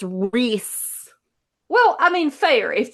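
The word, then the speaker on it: Rhys: And I'm like, it's Reese.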